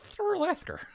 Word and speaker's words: Thorlathker: Shortly after arriving, it's Thorlathker. That's the local pronunciation I've been told by a jerk.